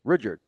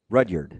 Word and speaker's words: Rudyard: Rudyard. Yeah. Yeah, just say it like a normal That's person. what I did. No, you did. Rudyard. What? To me, that sounds soft. Not yogurt. Rudyard.